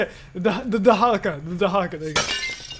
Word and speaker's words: Dahaka: This is where I got murdered multiple times by the freaking Dakaha or Dahaka. Dakaka? Dakaha. I forgot how to say it. The Dahaka.